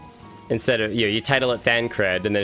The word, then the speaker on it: Thancred: And you title it by the actual name, and it's like, instead of, you title it Thancred, and then it's just me pronouncing it Thankard.